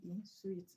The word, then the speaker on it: suite: This one, the one without letter E is sweet. The one with letter E is sweet. All right. SUITE, sweet.